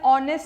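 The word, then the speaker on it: honest: जैसे ही इज एन ऑनेस्ट citizen आपने ऑनेस्ट citizen लिखा आपने एन भी लिखा because A एच is silent but I know many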